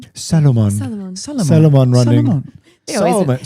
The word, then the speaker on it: Salomon: So fifth place Matias Kibbers of Switzerland running for how do you pronounce it Caitlyn? Salomon. Salomon.